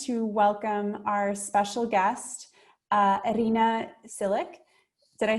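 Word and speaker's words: Iryna Tsilyk: I want to take a moment to welcome our special guest, Irina Silic.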